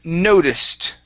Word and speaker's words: noticed: Okay, the word noticed. Okay, stress here is at the very beginning as well.